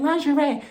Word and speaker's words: lingerie: Why not put on my best lingerie, that's how you say it, lingerie.